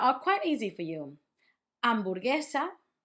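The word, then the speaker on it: hamburguesa: Amborgesa. It's very similar to hamburger. It just doesn't have the h. Amborgesa.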